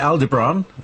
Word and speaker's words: Aldebaran: Now, I pronounce it Aldebaran in order to emphasize the Ra of it.